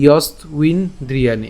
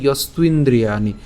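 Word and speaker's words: যস্ত্বিন্দ্রিয়াণি: এবং এখানে যে ব আছে, বয়ের উচ্চারণটা আমরা ইতিমধ্যেই বলেছি, এর উচ্চারণটা উয়োর মতো হবে।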